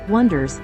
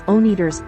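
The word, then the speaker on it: Oneders: The Wonders, pronounced Wonders, even though everybody misreads it as Oners, are a young group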